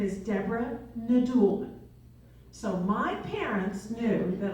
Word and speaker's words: Nadoolman: up who recognizes Indiana Jones okay who can pronounce my maiden name okay so my I'm my maiden name is Deborah nulman so my parents knew that I design that